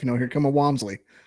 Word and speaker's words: Wamsley: Um most most people mispronounce it, say Whamsley, but you got it right.